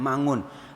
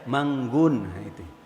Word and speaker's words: Mangun: Misalnya maaf, ada teman saya namanya Mangun, orang Arab sulit pakai eng, jadi dia bacanya Manggun.